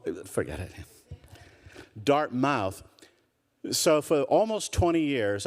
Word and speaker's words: Dartmouth: la-di-da professor at some school that they still pronounce Dartmouth, all the years that I've been here, I could never get my family to say, you got the accent on the wrong, forget it. Dartmouth.